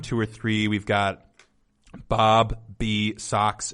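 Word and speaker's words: Bob B. Soxx: or three we've got Bob the socks it's probably supposed to be pronounced bobby socks and the blue jeans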